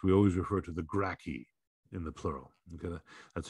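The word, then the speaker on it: Gracchi: in history books we always refer to the gracky in the plural okay that's how you pronounce that gracky obviously with no love of the senate uh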